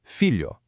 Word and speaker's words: filho: Also, notice the very end of the phonetic spelling. There's a U. In spoken Brazilian Portuguese, an O at the end of a word often softens into an ooze sound. So, all together, it's filho. Let's practice that unique LH sound. Filho. Filo. Feel where your tongue hits the roof of your mouth.